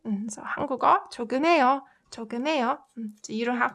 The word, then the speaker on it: 조금해요: This h sound gets muted. So I'll try pronouncing the whole sentence. 한국어 조금해요, 조금해요, 조금해요. So you can like hear that slight h, right?